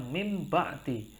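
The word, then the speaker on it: مِن بَعْدِ: kita membacanya misalkan contohnya Min ketemu ba maka kita membacanya mim ba'di loh kok menjadi mim ba'di Oh itu namanya iqlab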